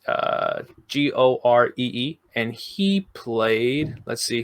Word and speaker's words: Goree: Okay, she worked with somebody named I'm hoping I'm pronouncing this right. Eli, it's Gore. It's Goree, and he played.